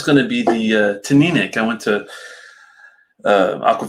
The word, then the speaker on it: Teaninich: to be the uh to nick i went to uh aqua vitae's pronunciation school before i went to one i was always saying tonight so i'm glad i looked it up it's which shout out to